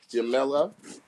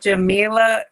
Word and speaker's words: Jamila: Um, and we are happy to bring Jamela B. Capac. Did I tear the whole name up? Jamila.